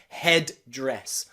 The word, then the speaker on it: headdress: Headdress. Headdress, okay? But it is also not wrong to pronounce both Ds, okay? Headdress or midday.